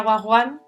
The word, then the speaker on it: Wagwan: Wagwan, lo primero es, se pronuncia Wagwan, mucha gente nos llama Wag cariñosamente, pero viene del término del slang inglés, que es, bueno, se